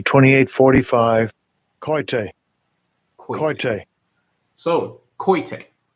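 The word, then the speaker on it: κοίτη: And it's pronounced, it looks like kote, but I'm going to play it anyway. Strong's G 2845, koite.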